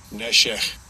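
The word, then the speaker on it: נֶשֶׁךְ: And let's get a pronunciation of it. Strong's H5392. Neshech.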